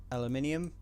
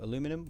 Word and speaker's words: aluminium: still useful we've got some aluminium which is for aluminum which I will admit is not the correct spelling but it's how people pronounce it anyway and some organic we